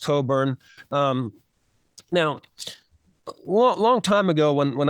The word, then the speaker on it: Cockburn: It's spelled Cockburn, but it's pronounced Coburn.